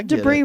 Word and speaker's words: debris: human debris was trash no debris rhymes with tree I get it that